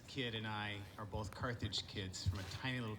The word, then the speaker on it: Carthage: edge of the earth it's pronounced carthage by the way not garbage and not carnage carthage i know menhe because